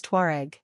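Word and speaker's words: Tuareg: But the modern pronunciation of this Arab term, it is unknown to the Berbers themselves, is Tuare.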